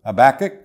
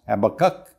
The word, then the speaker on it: Habakkuk: Our text is from the book of Habakkuk, sometimes pronounced Habakkuk, and it's chapter 2, verse 4, which says, "The just shall live by his faith."